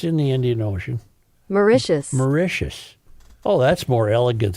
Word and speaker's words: Mauritius: A new location, Port of Call in Port Louis, Mauritius. Is that how you say it? Yes. Look that up, Reavers. Mauritius.